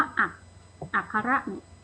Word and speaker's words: อัคร: มี คำ มี ตัว มี ตัว พยัญชนะ ที่ เป็น ควบ กล้ำ แต่ ไม่ ออก เสียง ควบ กล้ำ นะ คะ เช่น คะ ว่า จับ มี กอ รอ อะ นะ คำ ว่า อัคร นะ คะ มี ข้อ ควาย รอ เรือ แต่ ไม่ ได้ ออก เสียง ควาย รอ เรือ คำ ว่า บุตร มี ตร.